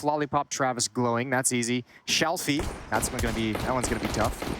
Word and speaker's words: Shalfey: Shalfey, that one's gonna be tough. No, that was fine. You said Shafley earlier. No, I said Shalfey.